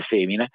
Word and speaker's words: foemina: C'era comunque un riconoscimento del fatto che la donna, ecco la cosiddetta in latino femmina, si scrive foemina, ma si legge femmina, aveva un ruolo fondamentale